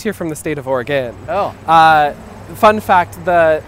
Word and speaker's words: Oregon: maybe from the state of Oregon but you pronounced it Oregon right yes in fact I just moved here from the state of Oregon oh uh fun fact the village of Oregon